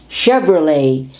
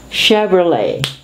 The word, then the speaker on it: Chevrolet: is pier chevalier chevrolet because this is french influence silent t chevrolet chicago chicago chaperone chandelier